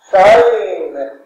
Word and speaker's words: sign: in fact is pronounced sign G in this word is a sleeping letter which means that it does not contribute to the pronunciation except hell you tell